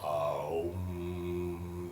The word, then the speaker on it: Om: It can be expressed in one syllable, Om or Aum. There's 2 different ways you can express Om.